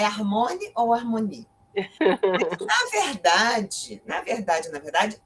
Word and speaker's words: Armony: Eu pronuncio a francesa. Harmonie, né? Harmonie.